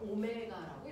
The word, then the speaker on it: 오메가: 속도라는게 있어요 각속도는 우리가네 이거는가 아니고 그 있어 오메가라고 읽어요 오메가 오메가 이거는 a 아니고 알잖아요 이건가 아니고 벡타아요 됐어 얘는 오메가라고 읽어요가 아니고 됐어 오메가 자 각속도를 표현하는 거